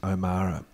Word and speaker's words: O'Meara: The first is, as you can see, my name looks like O'Meara, but it is in fact pronounced O'Mara. Let's have a quick, here's something for you to remember. O as in, oh my goodness, wasn't that surprising. Ma as in mother, O-Mar, and Ra as in lions and tigers and bears.